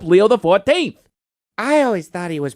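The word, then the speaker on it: Leo XIV: Pope Leo uses the X, the I, and the V as Roman numerals. So, he's Pope Leo the 14th. I always thought he was Pope Leoxiv.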